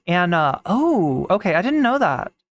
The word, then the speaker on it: ana: you narell B nature the Turkish word for mother is an it's pronounced like Anna oh okay I didn't